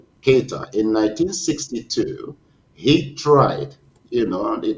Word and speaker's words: Keita: the past, for example, Modibo Keito, or Keita, I'm not sure how it is pronounced, in 1960, yeah, Keita, in 1962, he tried, it was then newly independent.